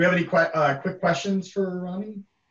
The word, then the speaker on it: Rommie: Do we have any quick questions for Rommie? It's Rommie, right? Not Romy. It's Rommie. I hate mispronouncing people's names, which makes it okay. Very difficult, but I'll remember to say Rommie.